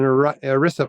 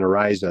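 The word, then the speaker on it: ERISA: This is an Orisa plan. I think I'm pronouncing that right. I was saying Arisa.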